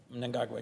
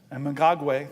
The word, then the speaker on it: Mnangagwa: And you always correct me on my pronunciation, so I'm going to try my best. Mnangagwa. Mnangagwa, yes. Mnangagwa, thank you, sir.